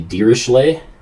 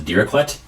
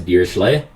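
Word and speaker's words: Dirichlet: something called the uh the dirish lay this is a nice fun French word that you get to pronounce I used to think of as diraquet it is not deer cutlet it's a deer shlay that's something to get used to so a gearsely boundary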